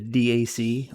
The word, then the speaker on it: DAC: This little board is a DAC, or a DAC, I've heard it pronounced both ways.